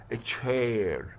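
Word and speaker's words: chair: كاف واقول كهير، لا قال لي اذا جه سي اتش ننطقها التش، فهنقول اتش اتش اتش. طب وافتح عشان في ايه اهو، يبقى تش، ها فتح علشان ده ايه، وبعدين الاي اي اي ار تشير تشير.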